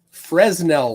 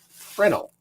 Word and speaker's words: Fresnel: So a Fresnel lens, because that's how I've always heard it, but I've heard that it's pronounced Fresnel. So I will try to pronounce it correctly.